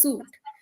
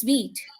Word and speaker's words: Suite: in some countries uh people pronounce it as Microsoft Office suit but here people would be like suit what is that it's pronounced as Microsoft Office Suite right so I always